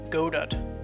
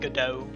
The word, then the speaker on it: Godot: see how it is and yes I'm calling Godad I hate Godot it sounds like a rubbish could be trying to pronounced like Godot I like go Dad it sounds modern sounds